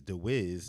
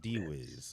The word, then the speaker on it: DeWiz: Says, I just have to say it's DeWiz, not D-Wiz. Okay, I got you.